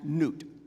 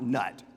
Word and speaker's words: Nut: scene uh Gabe and n and again this should be pronounced n not nut okay uh sometimes it